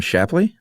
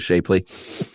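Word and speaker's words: Shapley: And so did you pronounce some Shappley? Yeah. There's a E that's not supposed to be in there. Oh, really? Cuz no one wants to be called Harlo Shapely, I'm sure.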